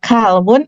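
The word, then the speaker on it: كلب: Qaf dengan kaf akan berbeda artinya kalau kita tidak tepat dalam pengucapan. Misal kalau qalbun artinya hati, kalau kalbun artinya maaf anjing dalam bahasa Arab.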